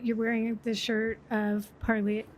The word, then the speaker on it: Parley: Um you're wearing the shirt of Parlay, how do you say it?